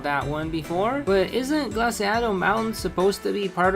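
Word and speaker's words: Glaseado: First of all, it's pronounced Glaciado.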